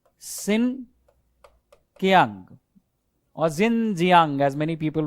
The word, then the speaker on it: Xinjiang: So you are free to pronounce it as Xinjiang. But if you want to be close to how natives would call it, Xinjiang.